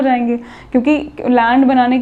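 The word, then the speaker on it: Gland: इसके हेडक्वार्टर्स कहाँ पे हैं, लैंड, इसमें G साइलेंट है।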